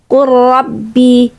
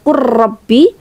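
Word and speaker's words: قُلْ رَبِّ: Kemudian qul rabbi, qul rabbi qul rabbi. Dibacanya quabbi quabbi ingat, berikan periode untuk membaca huruf yang sukun pertama. Jadi kita enggak buru-buru ke qurrabbi. Qurrabbi bukan, tapi qul rabbi. Seakan-akan lamnya itu tetap terbaca tapi kita langsung masuk ke huruf berikutnya.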